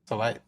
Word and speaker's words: Hinako: Hinako Yeah, Hinako she also made that clutch putt on 18 to send it to a playoff.